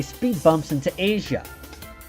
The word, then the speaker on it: Asia: say speed bumps into asia i mean asia no seriously why is her name spelled the same way as the country but pronounced differently did they really want